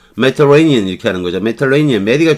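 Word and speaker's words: Mediterranean: 발음 안 해도 되니까 여기 강세주고 여기 요 부분 빼고 터 요것도 빼고 여기서부터 여기까지 쭉 빼고 레이니언 여기 레이니언 여기만 강세우는 거예요. 메터레이니언 이렇게 하는 거죠.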